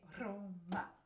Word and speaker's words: Roma: So you roll your R's, and then you say Roma, Roma, Roma.